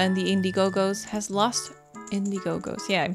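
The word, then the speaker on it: Indigo-Go's: Indiegogos.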